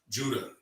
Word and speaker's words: Judah: No, Judah, sir. Judah. Judas is what? The Greek pronunciation of Judah.